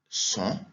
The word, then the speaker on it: son: En français, on dirait sont, Mais en espagnol, comme vous le savez déjà, tout se prononce, on dit son.